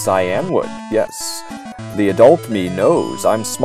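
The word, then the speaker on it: Cianwood: Kynewood. No, it's Cyanwood.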